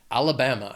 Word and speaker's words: Alabama: It has 4 syllables and the stress is on that third syllable, that BAM. Alabama.